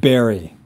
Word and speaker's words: berry: Last one is the V versus B. So we have very and we have berry. Now, this isn't a problem for all Spanish speakers, but some may have this problem.